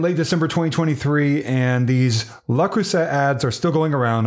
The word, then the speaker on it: Le Creuset: shouldn't pronounce the T the T was pronounced by the guy with the accent doing the official video for the company so that's the way